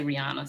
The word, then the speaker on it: Rihanna: Everyone in the world mispronounces Rihanna's name. I hope I said Rihanna properly. Yeah, I say Rihanna, sis.